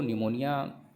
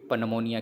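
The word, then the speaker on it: pneumonia: याद रखेंगे निमोनिया की स्पेलिंग पी से स्टार्ट होती है, और लेकिन इसको हम रीड निमोनिया ही करते हैं क्योंकि इसमें पी साइलेंट होता है। याद रखेंगे, नहीं कई बच्चे कहेंगे पी आ रहा है इसमें, तो पनमोनिया क्यों नहीं पढ़ते हैं।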